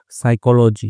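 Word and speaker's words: psychology: तो ही रेड, उसने पढ़ी थी, क्या पढ़ी उसने, बुक्स, किताबें पढ़ी, ऑन साइकोलॉजी, ठीक है, तो पी साइलेंट होता है इसमें, तो साइकोलॉजी यानी कि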